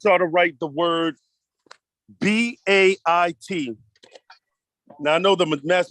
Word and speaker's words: bait: B-A-I-T. And this is pronounced just like in the English word bait.